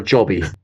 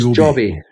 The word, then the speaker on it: Joby: This is it pronounced Joby or Jobby? I'm never Well, we're sure. Scottish, so we'll call it Jobby, but I think it is It's Joby.